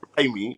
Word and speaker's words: Jaime: So in regards to like the main character, Jaime, which is a pronunciation of his name, which is joke, because obviously it's spelled Jamie, but obviously Jaime is the way the family say it's jokes.